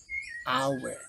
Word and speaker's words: hour: adalah n bukan e walaupun secara tulisan depannya huruf H tetapi dibaca ee dibaca suara awalnya adalah a hour bukan H bukan ya makanya artikel yang